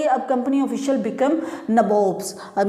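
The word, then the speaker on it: nabob: अब ये आप सोचेंगे कि नबोब्स क्या हुआ, नवाब की ही एक फॉर्म है, उसी को जिस तरीके से उनका प्रोनाउंसिएशन रहता था तो वो नवाब नहीं बोल पाते थे, नबोब बोलते थे, तो वो अपने आप को नबोब बोलने लगे।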